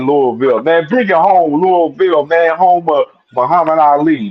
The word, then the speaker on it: Louisville: If you was really talking about Louisville, it's Louisville. It ain't no Louisville, it's They want Louisville.